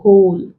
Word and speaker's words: whole: W is silent example whole whose who words like this so some wh words the W is silent leaving the H to be pronounced like this words and